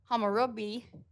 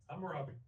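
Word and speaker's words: Hammurabi: name probably wrong but king hamari um came up with h what was it hamurabi hamurabi thank you um came up with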